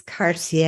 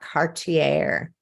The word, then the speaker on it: Cartier: not be wearing it so from me to you Speedy Derek it's Cartier and not Cartier just saying anyway I